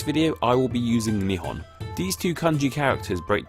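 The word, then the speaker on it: 日本: Well, they call it this in kanji, which can be pronounced in one of two ways, Nippon or Nihon. For the rest of this video, I will be using Nihon.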